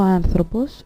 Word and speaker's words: άνθρωπος: So, as we can see, ο άνθρωπος has an accent on the first syllable, but ο γιατρός has an accent on the last syllable.